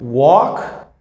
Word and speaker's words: walk: here in the words walk and talk for example you're not going to pronounce the l you're going gonna say walk and talk okay it's easier